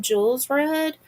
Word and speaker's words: Kjolsrud: They they pronounce her name Jules Rudd and Evan Clark.